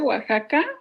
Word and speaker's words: Oaxaca: estar presentes no si se pronuncia oaxaca acá a veces like y se pronuncia como jota es como méxico que